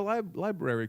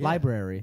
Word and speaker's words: library: is word library library library yeah hi Brandi well there's an R in there that you were missing no you're not saying the first R you're saying library you're saying the second